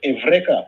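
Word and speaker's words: εὕρηκα: It was Archimedes who created that phrase, or at least made it famous, pronounced evreka in Greek.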